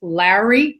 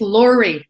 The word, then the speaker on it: Lori: And it's funny, the way you say my name is Larry, kind of like Larry or Laurie. It's Lori. Just Lori.